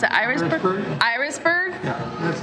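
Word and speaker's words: Irasburg: From how do you pronounce it? Irisburg? Irisburg?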